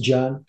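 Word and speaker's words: 見: Il se prononce Jian en chinois.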